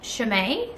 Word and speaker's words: Chaumet: So the brand is pronounced Chaumet.